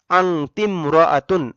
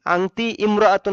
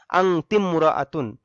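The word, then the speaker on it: أنتِ امرأةٌ: আংতিমরাআতুন। আংতি ইমরাআতুন হয় স্বাভাবিক নিয়মে, কিন্তু এখানে আলিফটা উচ্চারণে আসবে না, যার কারণে উচ্চারণ হবে আংতিমরাআতুন।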